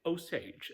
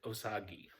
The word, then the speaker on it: Osage: They have not been Osagi. They've never been Osagi. You know, I'm sure there's somewhere over in Japan, it's probably pronounced ozagi, but in my part of the world, it's oage.